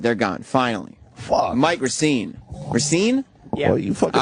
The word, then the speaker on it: Racine: Yeah, it's Racine. It's the Italian pronunciation.